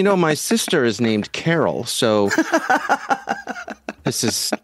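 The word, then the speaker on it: Carole: many uh s-bombs are software bills and materials Corel Carol sorry I am so careful about pronouncing your name right and the one time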